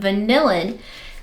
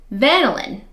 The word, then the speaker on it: vanillin: and she said also vanillin vanillin kind of like lanolin kind of reminds me of kind of like saying lanolin but anyway she said that vanillin is also um an appropriate uh pronunciation so I'm just going to keep going with my vanillin oh that's pretty so